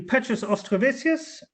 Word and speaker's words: Petras Auštrevičius: You pronounced my name in a way as Lithuanians would do this.